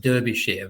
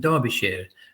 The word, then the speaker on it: Derbyshire: county called Derbyshire um if you would look at it you'd probably think it's um pronounced Derbyshire but Derbyshire and that's an English